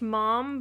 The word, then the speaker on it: Ma'am: m not ma it's it's still pronounced mom but it's kind of